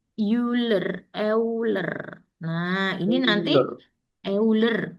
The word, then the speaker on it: Euler: E ini bacanya Euler.